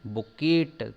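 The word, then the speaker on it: bouquet: ध्यान रखिए इसकी स्पेलिंग बुकेट टाइप की लिखी रहती है लेकिन ये बुके कहलाता है।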